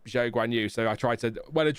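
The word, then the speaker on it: Guanyu: So for example during F2 we all called Zhao Guanu Guuha. Uh but then he said it's it's Guanu.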